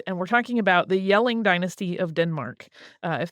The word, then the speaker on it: Jelling: for on your own yelling is spelled with a J at the beginning so it's like jelling if you uh look at it and you're normally a um an American English speaker so the yelling Dynasty